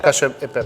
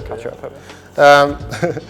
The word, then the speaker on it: cacio pepe: Cacio peppe. Cacio peppe.